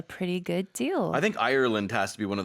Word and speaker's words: Ireland: To me, a lot of times it sounds like people are saying island. Oh, so it's Ireland. Ireland. Like you have to hit the hard R.